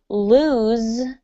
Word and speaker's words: lose: And in the word lose, you actually have a Z sound or a Z sound, depending on where you're from, Z or Z.